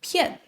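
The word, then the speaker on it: 遍: He pronounced it as "piàn" instead of "biàn."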